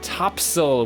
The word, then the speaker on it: Topsail: half marathon out at topsail which is spelt eops ail which is totally absurd but in North Carolina apparently they say things like that so it's Topsail we're going out and